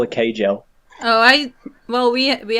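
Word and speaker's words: Kjelle: k k k no so it's like a silent J ke yeah a little bit oration in German where it's like a y sound okay I think I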